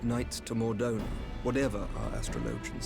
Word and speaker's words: astrologian: grounds to send knights to mordoni whatever our astrologians say as i told you before we have